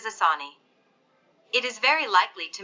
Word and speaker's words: Asani: intensified into a cyclonic storm asani pronounced as asani it is very likely